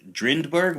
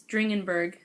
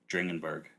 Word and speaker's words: Dringenberg: if I'm pronounce her I always say Dr drenberg but that's obviously not even how it spelled he German right yeah it's dringenberg dringenberg yeah I thought there's two D's in there somehow no I